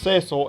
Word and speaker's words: Cecil: World of Final Fantasy, and his name is pronounced Cecil in every single one of those games, making it extremely clear that that is the correct pronunciation.